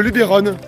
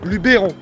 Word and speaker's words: Luberon: on dit Cassi on on dit le lubon ou le Luberon qu'est-ce qu'on dit hein le Luberon Luberon en fait tout ça c'est des histoires d'accents régionaux fa savoir qu' normalement